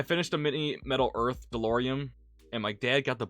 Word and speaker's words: DeLorean: I finished a mini Metal Earth DeLorean, and my dad got the Bookends library for my birthday. Oh, that's sweet. I don't know why I pronounced that with an M on the end, but it's DeLorean.